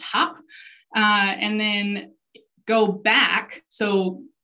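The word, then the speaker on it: Höfn: Some people may pronounce it Hafen. Icelandic folks, it's pronounced Hop.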